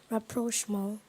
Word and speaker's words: rapprochement: Rapprochement. Am I pronouncing the word correctly?